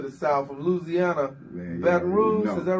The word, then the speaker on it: Baton Rouge: French, the language Rouge, the color red, you know, but it's Baton Rouge. That's how you, from Baton Rouge, that's how you pronounce it, Baton Rouge, you know.